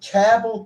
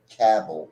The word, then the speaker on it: Cabell: Roads so it's in Cabell County but caval is spelled c a b e l l and so you often hear cabel or cable but it's Cal like C A BBL e right okay and then